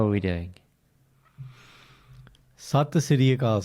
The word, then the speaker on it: Sat Sri Akal: It is time for me and Karan to have our weekly reunion on the podcast and say, Sasikal, how are we doing? Sat Sri Akal, say it properly.